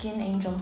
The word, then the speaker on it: 천사: Because "천사" (pronounced cheon-sa) (means 1004 or angel) Skin Angel Yeah that's